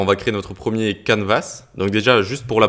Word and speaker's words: canvas: Alors, on va créer notre premier canvas. Donc déjà, juste pour la prononciation, ça se dit canvas avec un S en anglais et on a quand